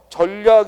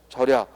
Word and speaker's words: 절약: 안된다는 겁니다 아십니까 어 따라서 전략 이라고 읽으면 안 되고 뭐라고 읽어야 돼 절약 그래서 발음의 조심해야 되는